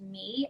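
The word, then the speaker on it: 米: an emoji of a rice bowl which is pronounced me and a bunny which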